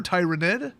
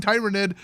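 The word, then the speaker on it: Tyranid: me to keep saying Tyrannid to piss off the Tyrannid players. Well, you know what? Just as a rule, if it rhymes with pyramid, I'm gonna change it.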